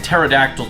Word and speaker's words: pterodactyl: could have been like pterodactyl tremont or something or terrymon with a p because that's like the whole joke about tiger pterodactyls is the silent p iman guru rumon that's